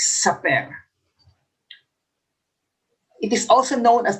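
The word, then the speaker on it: Sapir: have here the saperworf hypothesis i checked the pronunciation it's super it is also known as the linguistic relativity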